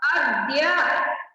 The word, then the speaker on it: अद्य: तो अब आपको उच्चारण समझ में आएगा, इसका उच्चारण किस तरह से करेंगे सोनू? अग या क्या होगा? अज्ञ अज्ञ हाँ, घ नहीं है, द है, द, अद्य। अद्य बिल्कुल सही, अभी आपने सही कहा।